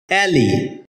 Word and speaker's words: alley: এলি এটাকে আমরা এলে উচ্চারণ করে থাকি যার সঠিক উচ্চারণ হচ্ছে অ্যাললি শব্দটি বাক্যে নাউন হিসেবে